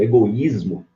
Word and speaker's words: egoísmo: Por exemplo, egoísmo, você acentua, você divide egoísmo. Esse I é tônico, está sozinho, quer ver, ó, egoísmo, sozinho na sílaba.